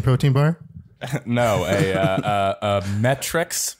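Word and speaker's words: MET-Rx: no a uh metrics which i only really recently realized that they were pronounced metrics because i used to call them met rx but i think everybody does right yeah yeah they're it's like it doesn't naturally because it doesn't look like metrics to me so i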